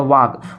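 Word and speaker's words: walk: देखिए इसको वॉक नहीं पढ़ा जाएगा, यल साइलेंट होता है, इसको क्या पढ़ा जाएगा, वॉक।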